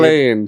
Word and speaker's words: Laine: call me Patrick's sister L Lane pronounced lane lane so Jasmine Lane's with